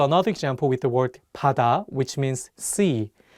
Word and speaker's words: 바다: The pronunciation of 비읍 in this word is different than the one in 가방. In this case, the 비읍 is pronounced more like 피읍. Try saying the words 가방 and 바다 out loud and see how you sound.